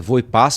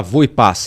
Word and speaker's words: Voepass: Vinhedo o voo da voo e paz e agora sabemos a pronúncia correta é vo e pass porque o presidente da empresa gravou um vídeo Segunda ou terça-feira E ele fala v e pass então eu vou seguir